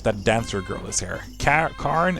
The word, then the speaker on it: Karen: Karen is Karen, I guess is how you would say it in English. I always pronounce it Norwegian.